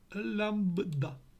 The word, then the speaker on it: лямбда: всі три варіанти підходять як правильно читається ця літера Омега лямбда Альфа Дельта лямбда Ось так вона читається і в мене 10